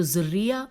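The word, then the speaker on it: ذُرِّيَّة: میں ہجے کرتی ہوں، زال پہ دمہ ہے، رے پہ زبر ہے، فتح ہے، اور پھر یہ پہ تشدید ہے، تو ذریہ، اور پھر لکھا ہے ذریہ، زال پہ زیر والا ذریہ، اور پھر ساتھ ہی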